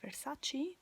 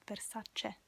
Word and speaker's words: Versace: and it's important um the letter e is pronounced e in italian and think about it um american always say versace but it's versace that's the same thing okay it's very such